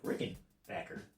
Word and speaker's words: Rickenbacker: hate the rick backer and you can't say backer or bocker so in the comment section there is no correct way of saying it they went by both names they changed the pronunciation later on in the history of rickenbacker or bacher so both ways are correct whatever you want you